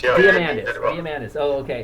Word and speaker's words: Diamandis: Diamandis, yeah. Diamandis.